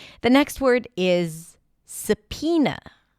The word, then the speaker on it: subpoena: The next word is sapina. Sapena. The word is spelled with a B sound and then there is an O there somewhere.